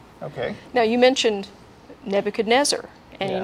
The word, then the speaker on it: Nebuchadrezzar: Now you mentioned Nebuchadnezzar, and you Yes. notice I use the pronunciation Nebuchadrezzar.